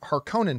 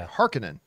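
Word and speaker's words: Harkonnen: big thing to me I have always said har Conan Haron and I went back and looked at one of the original things and they pronounced it haran but in the new Dune they pronounced it Harkin Harkin yeah which is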